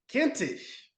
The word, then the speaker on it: Kintisch: Kintisch. It rhymes with mintish or flintish.